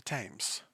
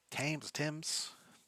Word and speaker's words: Thames: The Thames. I think Thames, something like that. No, it's not pronounced how it's spelled.